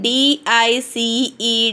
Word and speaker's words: dice: We have two vowels in one word. So, for I takes the same sound. The first vowel takes the same sound. Means long sound. We should pronounce I only. But for the second vowel, no sound.